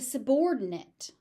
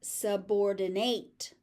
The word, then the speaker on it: subordinate: So the stress does not shift, but the ending is pronounced slightly differently despite the fact that it is spelled the same. So as a noun, it's a subordinate.